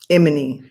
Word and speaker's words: Imani: at my house, and he pronounced her name Imani. As the majority of my Jamaican relatives, actually all of them pronounced it like that. Imani.